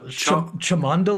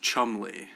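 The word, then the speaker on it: Cholmondeley: uh with Martian of chum chamond no it's I've heard it's pronounced Chumley uh okay it's one of those classic spelled One Way pronounced another yeah from that launching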